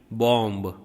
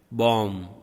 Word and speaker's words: bomb: Bomb, B is silent.